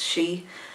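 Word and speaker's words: sí: they're the she they're the Irish word for them is she and actually van she the Banshees of initial in that film again uh the Banshee in that film you see as an old woman so um she's the Batman means a woman and she means fairy are so the fairy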